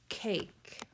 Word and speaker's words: cake: K-A-K, cake. K, then I hear an A, K, and that silent E goes right on the end.